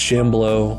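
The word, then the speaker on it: Shambleau: I know I said it wrong in all the other videos. It's Shambolo by C.L.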